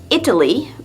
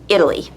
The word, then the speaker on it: Italy: So we don't say Italy, but Italy.